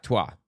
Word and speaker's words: Twa: There were the Hutu tribe, the Tutsi tribe, and there's the Twa tribe, I believe is how it's pronounced. Yeah, Twa.